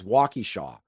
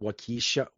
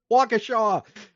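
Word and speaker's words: Waukesha: that it took place in is the correct pronunciation is Walkshaw, but it's like it's one of those Wisconsin city names that like outsiders don't always pronounce correctly. Like I heard one person pronounce it Wakisha, like Wakisha or something like that.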